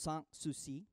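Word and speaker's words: Sans Souci: himself a place a palace that he called sang-soo see it spelled s ans s oh you see I it pronounced San Souci and which means without care without worry but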